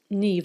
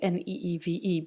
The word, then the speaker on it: Niamh: It's pronounced Niamh like Neeve, but it is spelled Niamh. That is the Irish language.